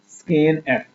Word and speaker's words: scanf: इसको प्रोनाउंस क्या करते हैं, स्कैन एफ।